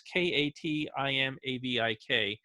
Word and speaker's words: Katimavik: It's Katimavik. It's not French, it's Intuit, and it means gathering place.